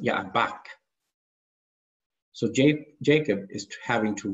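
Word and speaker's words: יבק: The river Jabbok is pronounced Yaabach.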